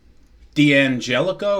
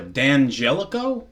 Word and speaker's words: D'Angelico: Uh it is a D'Angelico or a D'Angelico depending upon how you want to pronounce it.